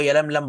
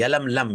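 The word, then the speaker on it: يلملم: जो मिकत पढ़ती है वो यलम लम पड़ती यलम लम ये प्रोनाउंस इसका है तीसरी मि कात है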